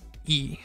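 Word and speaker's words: い: it's in romanji it's the letter i but it's pronounced e like the markiplier meme e and then we have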